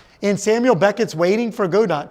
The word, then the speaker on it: Godot: Pretty sure it's pronounced Godot. Okay, Godot, thank you.